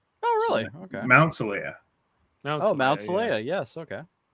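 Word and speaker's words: Xelaya: The home planet, Zalea, is actually pronounced just like the name of the place where Spock undergoes Fort Faltorpan, the refusion at the end of Star Trek 3.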